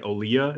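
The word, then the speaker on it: Olija: there's a game called it's spelled like a lydia but it's like olia is how it is yeah you were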